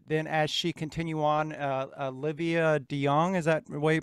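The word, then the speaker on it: Olivia DeJonge: up to, but then as she continued on, Olivia De Jong, is that the way you pronounce that?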